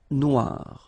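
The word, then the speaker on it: noire: it's quite funny because you will have to add this at the end of Noir for the feminine form but then you don't pronounce it okay so phonetically it is exactly the same no Noir Okay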